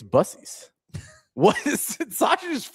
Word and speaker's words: Buc-ee's: Are we really going to argue over this Bu-Cee's, Buc-ees thing? It's Bu-Cee's. No, I know you're being serious. Yeah, no, it's 100%. It's Bu-Cee's. I don't know why we always say Buck.